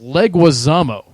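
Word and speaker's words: Leguizamo: good so Shadow psycho saying it's pronounced leg wamo like you know usually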